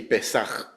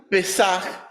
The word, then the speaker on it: pesaj: hebreo utilizó la palabra pesaj se pronuncia así pesaj con un poquito de flema al final con el tiempo la palabra pesaj se convirtió en la